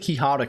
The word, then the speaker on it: Quixotic: I said Quixotic for probably the first 10 streams they were here, and until I was told that's not how you pronounce that.